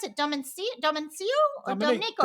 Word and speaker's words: Domenico: How do you pronounce it? Domencio or Domenico? Domenico.